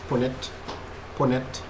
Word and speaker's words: Punnett: How is pronounce it? Punnett.